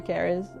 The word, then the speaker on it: Caris: Caris Saris. Sorry. Brain fart. Caris. No, I said it right the first time.